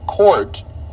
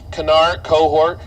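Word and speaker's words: Kohrt: My last name is pronounced Court, like basketball court, but it's spelled with a K, and I can't tell you how many times that's butchered. Cohort, K-O-H-R-T.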